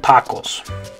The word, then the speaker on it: tacos: So if it was an English word, we'd probably say tacos, or tacos, or tacos, or something like that, right? But the correct way to say it in Spanish is tacos.